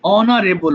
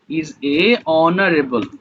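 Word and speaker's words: honorable: ব্যক্তির ইংলিশটা বল আমার বাবা একজন সম্মানিত ব্যক্তি অনারেবল মানে সম্মানিত বল ফাতিমা ওপেন করে বললাম মাই ফাদার এ বলেছ তাই না অনারেবল আচ্ছা একটু দাড়া ভুল হয়েছে অনারেবল ম্যান দেখতো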